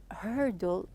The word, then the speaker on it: hurdle: I told you that when you pronounce the herdle here the r is a bit heavy here as we took